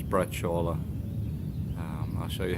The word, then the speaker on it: braciole: a brush Allah and as the Americans say Brazil oh it's braciola I'll show you how